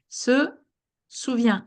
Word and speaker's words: se souvient: At the very end, that's a T. We cannot hear it, meaning you pronounce Souviens. these three exactly the same.